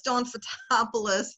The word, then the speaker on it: Fotopulos: do now who is don'ts a topless that's the phonetic pronunciation of my Greek last name and my last name